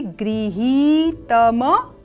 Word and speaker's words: गृहीत: भविष्यत परि गृहीत गृहीत दोनों क्या है ह पर ई का दीर्घ स्वर है और ग पर रिकार वाटिका है तो यहां पर जब हम ग पर रिकार वाटिका बोलते हैं तो ग्री और ह पर जब हम दीर्घ स्वर का उच्चारण करेंगे तो ही गृही तम मृते सर्वम उत्तम अग्र